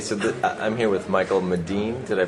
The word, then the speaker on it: Medin: I think the correct pronunciation is Medin, Okay. which is the sort of leading a Swedish, it's the fancy neighborhood.